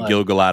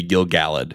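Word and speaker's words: Gil-galad: pronunciations already and I I've already been saying gilgalad a little wrong it really should be Gil galled yes Gil galled so anyway the guy the the person next to Gil galled is that third ring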